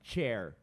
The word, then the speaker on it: chair: share a palavra cadeira chair a diferença é do tch pro T só então você forma outra